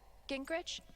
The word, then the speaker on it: Gingrich: Steph, Gingrich? Is that how you say it? Yeah, that's right.